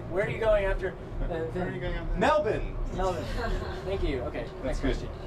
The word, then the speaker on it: Melbourne: Melbourne, yes. Where? The R is silent.